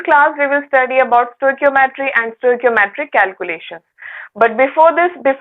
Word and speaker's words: stoichiometry: The spelling is like STOICHIOMETRY, right? We pronounce it as stoichiometry.